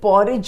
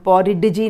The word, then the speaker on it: porridge: She then tasted the PORRIDGE, ये पॉरिज बोल रहे हैं ना, इसमें डी जो है वो साइलेंट है, मतलब स्पेलिंग में तो डी है लेकिन बोलते समय ये डी का साउंड नहीं, हम पॉरिडजी नहीं बोल रहे हैं